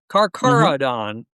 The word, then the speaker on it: Carcharodon: Carcharodon.